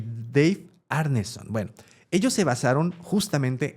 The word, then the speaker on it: Arneson: No es Anderson, es Arneson. Arneson, ¿okay? no, pues es que era para Gary que te costara Gygax trabajo. Y Dave Arneson.